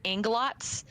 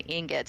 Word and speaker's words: ingots: I heard somebody one time pronounce ingots as inglots, and now I can Inglots? never not call them inglots. Inglots. I feel that. I have to like sit there and think about it and say ingots.